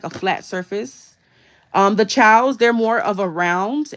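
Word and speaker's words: ciao: do anymore but if you see the Copic Chows and it's spelled c-i-a-o it's how they're spelled I don't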